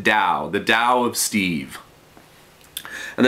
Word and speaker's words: Tao: have is Tao the but you pronounce it Dow the da of Steve